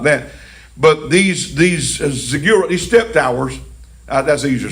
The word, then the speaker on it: ziggurats: Some people might say ziggurats. That rhymes with cigarette. But ziggurats, I believe, is the correct pronunciation.